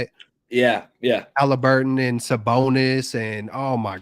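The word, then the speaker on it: Haliburton: Halliburton and Sabonis, and oh my God, this was you might as well mortgage their season.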